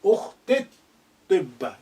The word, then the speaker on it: أختي الطب: So therefore, the lengthening yi sound becomes slightly shortened. You say ukhtit tibba. You jump in.